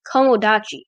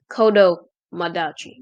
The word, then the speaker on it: kodomachi: night funk and modder known as kamodachi or actually i butchered that name it's kodo madagi apparently anyway in today's video